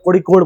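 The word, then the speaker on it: Kozhikode: Calicut, now known as कोझिकोड या कोड़िकोड बोलते हैं उसको। इसको जेड को मलयालम में अड़ाप, कोड़िकोड, समझ आ गया। इंग्लिश में ज प्रोनाउंस होता है, ठीक है ना।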